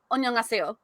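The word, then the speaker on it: 안녕하세요: But you saying hi when you're saying it formally, because when you say it formally in Korean, it's annyeonghaseyo, which is hello.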